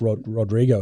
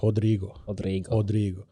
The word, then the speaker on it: Rodrigo: The R at the start of a word is actually pronounced as a H. Yeah. So, Henzo Gracie. Henzo, Henner. Exactly. Yeah. So they're not really R's, they're H's. So Rodrigo is not like Rodrigo, it's Rodrigo.